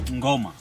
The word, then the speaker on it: Ngoma: How do you pronounce the name of this gate? Ngoma.